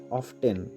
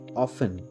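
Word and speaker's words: often: আছে আমরা উচ্চারণ করি অফটেন অফটেন এখানে বন্ধুরা টি টা সাইলেন্ট হবে কারেক্ট উচ্চারণ কি হবে অফেন অফেন O double F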